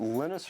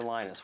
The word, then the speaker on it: Linus: Linus or Linus? What's your preferred pronunciation? When I speak Swedish, it's Linus. When I speak Finnish, it's Linus.